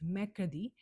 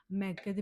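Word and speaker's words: mercredi: Wednesday is मैकदी। मैकदी में आप देख सकते हो जो आर है आर इज़ साइलेंट। प्रोनाउंस करते टाइम मैकदी को आर इज़ साइलेंट। इसको हम बोल रहे हैं मैकदी।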